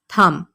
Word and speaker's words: thumb: इसके स्पेलिंग देखिए THUMB। अक्सर लोग ये बी बोलते हैं और कहते हैं थंब, हालांकि ये थंब नहीं होता। बी इस लफ्ज़ में साइलेंट है। आपने बी नहीं बोलना और आपने कहना है थंब।